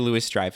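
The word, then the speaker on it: Louis-Dreyfus: you know that uh julia lewis strife is right that's how you say it i always say louis julia louie okay she you know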